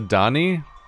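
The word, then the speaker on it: D'ni: was looking forward to introducing you to the dunny so he shouldn't be terribly long why don't you wait in his study it's pronounced the Donny like not that Denis huh also totally thought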